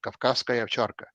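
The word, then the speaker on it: Кавказская овчарка: Or you have a dog which was I'm going to pronounce it the proper Russian pronunciation, Kavkazskaya Ovcharka, Caucasian Shepherd.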